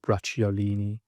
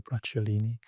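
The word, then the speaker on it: Bracciolini: Um Pogio, that's Pogio Bratiolini. Uh that's I'll try and spell that for you. B R A C C I O L I N I I believe Pagio Bratulini.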